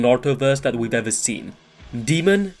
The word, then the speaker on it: Daemon: that we've ever seen demon and yes that is how you pronounce his name i un-ironically had to